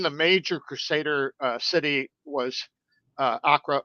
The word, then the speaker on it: Acre: major crusader city was akra or acre as we would pronounce it which is now akko